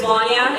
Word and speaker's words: Wania: My name is Wania. It rhymes with Tanya, but it's a lot better.